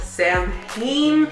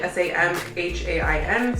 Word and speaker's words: Samhain: like to call it, Samhain, because the way it's spelled is like S-A-M-H-A-I-N, so Samhain.